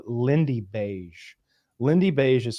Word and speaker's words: Lindybeige: Lindy Beige is spelled LINDYBEIGE.